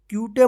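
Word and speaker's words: cute: इसको क्या पढ़ेंगे ट्यूब सी यू टी ई क्यूट क्यूटे मत पढ़ेगा या कूट या सटे मत पढ़िए नहीं इसको क्यूट पढ़ेंगे एम यू टी ई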